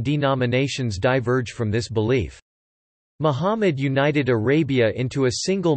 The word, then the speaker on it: Muhammad: Muhammad, Arabic, Mumd pronounced Muhammad, c.